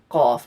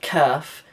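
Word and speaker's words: قاف: Qaf. It's not Kaf.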